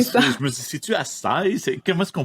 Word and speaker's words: açaï: Je me dis, c'est-tu açaï? Comment est-ce qu'on prononce ça? Fait que le i tréma, eh bien, on prononce le i séparément, c'est ça?